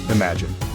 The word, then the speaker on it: imagine: This word is broken down into three syllables, imagini. The emphasis is on the first syllable, im. Repeat after me, imagine.